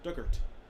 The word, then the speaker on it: Duggart: hubs on the island pronunciation dug like the past tense of dig and ort or ert rhymes with hurt so duggart duggart the big house this